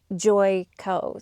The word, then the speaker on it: Joico: And thank you to whoever left the comment of how to pronounce this correctly. It is Joico.